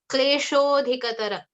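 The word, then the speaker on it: क्लेशोऽधिकतर: So when you combine the two words, klesha adhikatara, when you combine these two words, it becomes kleshodhikatara. Okay. So the and the combine to make the o sound.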